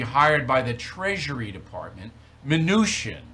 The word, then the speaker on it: Mnuchin: Now, they report that you are going to be hired by the Treasury Department, Mnuchin, right? That's how you say his name, Mnuchin, right?